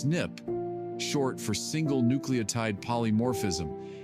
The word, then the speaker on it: SNP: One common type of variation is a SNP, pronounced snip, short for single nucleotide polymorphism.